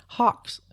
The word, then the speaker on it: Hox: example of this is the Hawks family of genes that's spelled h-o-x we talked a little